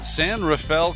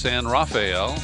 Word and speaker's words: San Rafael: talking to you from San Rafael California often mispronounced San rafeal and it was in